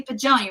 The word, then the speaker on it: Pagoni: pajama pagonia is you say pajoni right the g is a j sound like that i'm like oh my